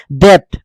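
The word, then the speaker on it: debt: ডাউট মানে সন্দেহ ডাউট ডেট ঋণ ডেট ডিটি ডেট বি নহয় বিটো একেবাৰে উচ্চাৰণ নহয় কিন্তু বিটো থাকিব লাগিব ডেট ঠিক তেনেকে এটো দেখিছে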